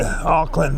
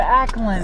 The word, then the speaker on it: Ackland: Nancy Alex took me out today to Aukland Museum. The Ackland.